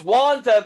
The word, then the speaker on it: Wanda: what uh oh no it's wanda the g is silent okay they're in the